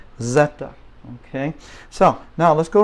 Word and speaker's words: zeta: Z and I was in Canada for a while Zed but in Spanish Zeta okay so now let's